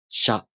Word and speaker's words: しゃ: To pronounce しゃ, you first make the [ɕ] consonant sound. [ɕ] Then, the tongue moves into position for the [a] vowel. sha Same thing with しゅ and しょ.